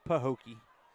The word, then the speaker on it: Pahokee: we we know how to say it it's pooki pooki I got it I said it right